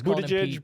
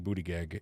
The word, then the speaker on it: Buttigieg: It's Buttigieg, but I like saying Buttigieg, and I know that's wrong. Do it. We all say it, Buttigieg, Buttigieg, Buttigieg, Buttigieg, Buttigieg, Buttigieg, Buttigieg, Buttigieg.